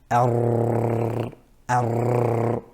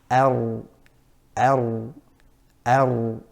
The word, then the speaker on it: ر: So we don't say ar, ar. Now the correct pronunciation of ra is ar, ar, ar. So you're touching it, but you're not having excessive ar, that kind of vibration of the tongue.